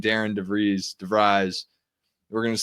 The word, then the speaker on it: DeVries: That's how I kind of see Connor Enright, kind of a guy that can come in, slow it down, knows exactly what DeVries wants to have happen.